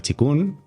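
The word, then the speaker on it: qigong: Exacto Exacto porque bueno el chikun que se escribe kiong que muchas veces la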